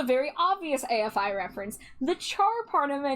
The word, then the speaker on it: Char: And originally, I was going to pronounce it char like Charlotte, but then I heard somebody, it was my friend Cena, pronounce it like Char, like Charmander, and that's why that stuck.